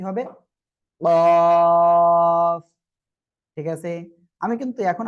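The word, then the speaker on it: قاف: টান, তারপরে ক, অর্থাৎ কফ। সবাই একসাথে বলেন তো, মাশাআল্লাহ। তাহলে আমরা এই অক্ষরটা উচ্চারণ করব, জিহ্বার গোড়া তার বরাবর উপরে তালুর সঙ্গে লাগিয়ে আমরা উচ্চারণ করব।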